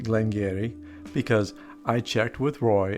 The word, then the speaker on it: Glen Garioch: name looks and yes i am sure it's pronounced glengarry because i checked with roy at aqua vitae